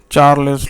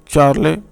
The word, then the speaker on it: Charles: 5 and topic is चार्लेस लॉ. ये French scientist हैं Jack चार्ले. तो हमारे यहाँ आमतौर पर इसकी प्रोनाउंसिएशन जो चार्ल्स लॉ पढ़ा जाता है, लेकिन फ्रेंच प्रोनाउंसिएशन की बहल चार्ले है.